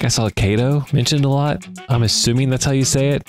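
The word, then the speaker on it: Kato: different companies and it seemed like I saw KO mentioned a lot I'm assuming that's how you say it it's not like something weird like kado watch it be kado oh my God it is pretty pronounced kado you guys yo it's a Japanese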